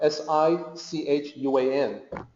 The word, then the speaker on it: Sichuan: And the new romanization looks like Szechuan, S-I-C-H-U-A-N, but Sichuan is the original Chinese pronunciation.